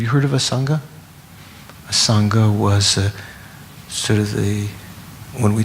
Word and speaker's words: Asanga: A Sangha was sort of when we talk about the Mahayana great charioteers, we talk about a Sangha and who's the other?